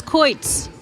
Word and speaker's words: quoits: Oh, it's Coits. Coits. Coits.